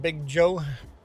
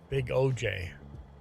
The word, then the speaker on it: Big OJ: Dream Element says, thanks for subbing, Big Joe. Oh, Big OJ. Not Big Joe. Big OJ. Just says I'm pronouncing your name wrong.